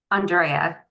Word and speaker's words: Andrea: it Andrea or Andrea Andrea the first way Andrea okay so Accent on on the second there there is an accent on the E yes okay I appreciate